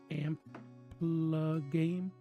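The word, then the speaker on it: AmpliGame: It's called Amplagame, is how you say it.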